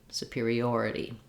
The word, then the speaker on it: superiority: separately idi superior superior superiority and you notice how that t is a flap in this context because it's followed by an unstressed syllable i do have a